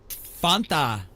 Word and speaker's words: Fanta: Fanta rhymes with wanna Fanta.